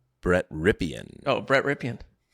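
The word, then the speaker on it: Rypien: If you're Brett Ripian, Ripian, definitely the right way to say it.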